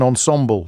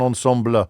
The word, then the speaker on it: ensemble: And I pronounced it wrong. I called it a violet. It's a viola and it's an ensemble, not an ensembler.